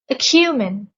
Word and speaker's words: acumen: Acumen. The stress is on the second syllable.